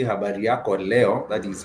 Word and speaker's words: leo: Leo is spelled the way you would pronounce Leo, like the star sign, Leo.